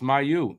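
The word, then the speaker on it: Mailloux: So, Logan Mayu says this. His name is not pronounced Mayu. It is pronounced Mayu. So it's Logan Mayu.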